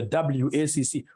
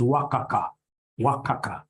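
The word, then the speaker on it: WACC: companies you'll get somebody instead of pronouncing this thing professionally as wac you get somebody calling it waka waka no no no no that's very unprofessional it's supposed to be wac is supposed to be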